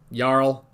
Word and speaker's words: Jarl: in that game apparently it's just the names yarl for Jarl I'm pretty sure they said yar although that's how you would pronounce it at least that's how they pronounce it in Skyrim so but that was